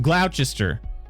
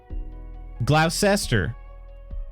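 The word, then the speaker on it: Gloucester: taught him that one GL Glouchester Lester glester glaucoma what did you just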